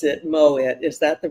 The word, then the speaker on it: Moitt: Welcome back with my friend Kojenwa, and I pronounce it Moitt.